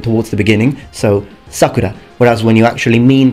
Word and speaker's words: Sakura: not pronounced Sakura it's Sakura the term means cherry blossom it's just that when you use it as the name of a girl the pronunciation shifts toward the beginning towards the beginning so Sakura whereas when you actually